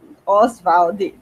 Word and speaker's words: Oswald: Oswald de Andrade, tá certo?